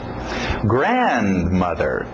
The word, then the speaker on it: grandmother: Grandmother, grandmother. Grandfather. Importante essa batida no início.